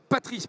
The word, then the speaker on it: Patrice: Et à côté de vous, Patrice, ne l'appelez pas Patrick, d'accord, c'est Patrice son prénom, président du MEDEF des Hauts-de-France.